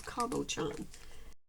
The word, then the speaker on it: cabochon: I looked it up to see how to pronounce that, and that's how it said to do is cabochon.